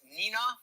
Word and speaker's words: Neenah: Is it pronounced Neenah?